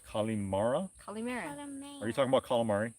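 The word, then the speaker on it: καλημέρα: you say it colleen mayer one more time kalimera colleen mara calimera are you talking about calamari no i'm not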